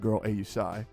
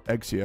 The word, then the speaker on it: Exia: gratuitous, video tomorrow showcasing my girl Ausai, or Exia, if you want me to say it correctly, but yeah, they're gonna be great.